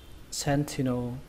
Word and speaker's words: sentinel: Cách đọc thứ hai của từ này chúng ta có thể đọc chữ thì này thành chữ tì luôn cũng được, người ta vẫn hiểu bình thường. Các bạn có thể đọc là sentinel, sentinel. Cách này thì nó dễ hơn.